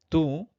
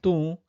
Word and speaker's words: tu: Tu ambo kha, you eat the mango. Or tu hanga yo, you come here. Tu, again nasalization, it's not tu, it's tu. So we pronounce how ani